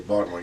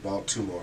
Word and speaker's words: Baltimore: uh you gotta say baltimore you can't say ball two more because you can't we don't pronounce the t what was it like